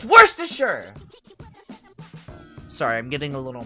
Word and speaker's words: Worcestershire: said whenever someone's made the word worcestershire sauce people say worcestershire it's worse to sure sorry i'm getting a